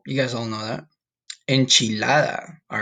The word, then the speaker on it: enchilada: Enchilada. All right, that's how you say it in Spanish. Enchilada.